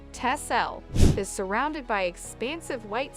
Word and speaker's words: Texel: the picturesque waden Sea Island Of Texel pronounced tessel is surrounded by expansive